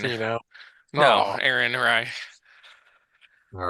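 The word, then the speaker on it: Rai: Ray, Ra, Aaron Rye.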